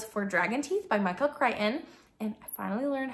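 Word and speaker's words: Crichton: Dragon Teeth by Michael kryon and I finally learned how to say his last name it's not crion it's not kton it's kryon sure it's Michael kryon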